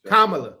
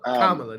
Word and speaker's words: Kamala: is that we knew Kamala Kamala man I'm say it right vice president Harris thanks Kamala Kamala there you go Kamala yeah so when